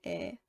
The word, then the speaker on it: 의: 의, which is the possessive particle, is commonly pronounced as 에.